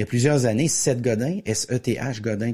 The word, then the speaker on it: Seth Godin: Il y a plusieurs années, Seth Godin, S-E-T-H Godin, comme ça s'écrit, comme ça se prononce, a écrit un livre dans lequel qui s'intitulait Tous les marketeurs sont des menteurs.